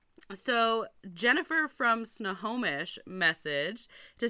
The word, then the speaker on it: Snohomish: And how are we saying it? Snohomish. Oh, very similar then. Yeah. Okay. The O and the N is flippy-floppy. So, Jennifer from Snohomish messaged to say that